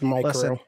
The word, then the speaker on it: Mirko: We mentioned the commentator pronouncing Mirko like micro. It's micro.